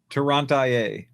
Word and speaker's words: Toronto: Toronto. It's always IIA. Good old California. Toia, Michigan. IA. Will you pronounce it Toronto? Like the movie Tron and then you add N O on the end of it.